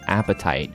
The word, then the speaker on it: apatite: being added here is apatite, which is apatite, not spelled like the one you have right now in your stomach, but apatite in real life is actually a pretty cool rock, and they often show